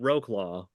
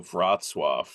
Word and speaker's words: Wrocław: Because I want to call it Wroclaw. Oh, Wrocław. What is it? WROCLAW? Yeah. I became aware that Polish is not pronounced the way that it looks in English.